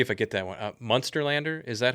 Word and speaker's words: Munsterlander: So I had a lab, and he had, let me see if I get that one, Munsterlander. Is that how you pronounce that one?